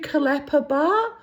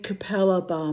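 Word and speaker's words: Capalaba: When we first came to Brisbane, my mother couldn't pronounce it either. She used to say to me, I'm going to Kalapa Bar. You mean Capella Bar, Mum?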